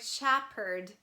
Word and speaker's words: shepherd: uphill uphold haphazard and in the word shepherd h is all silent please remember s h